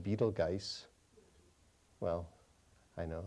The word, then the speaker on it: Betelgeuse: There's the red supergiant called Betelgeuse. Well, I know, it looks like it's spelled Betelgeuse, but some people say Beetlejuice.